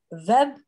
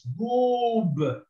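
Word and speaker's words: بوب: Web. No, this goes, dhamma means it has to have the u movement. So this is bu, and the Vu. wow elongates, so it's boob, boob.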